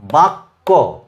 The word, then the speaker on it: বাক্য: এই যে কয়জক ক, যেমন ধরো এই শব্দটা বাক্য, বাক্য, ককে দুবার উচ্চারণ করব, কিন্তু কয়ের সঙ্গে ক কিন্তু যোগ যুক্ত নয়, সেটা হবে যুক্ত বর্ণের সময়। এটা বা বাক ক, বাক ক, বাক্য।